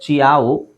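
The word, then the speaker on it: ciao: ಚೆಲೋ ಅಂತ ಹೇಳಬೇಕು ಚಲೋ ಇದು ಸಿಐಎಓ ಇದೆ ಚಿಯಾವು ಚಿಯಾವು ಚಿಯಾವ ಕನಟಿಕಟ್ ಇಲ್ಲಿ ಸಿ ಸೈಲೆಂಟ್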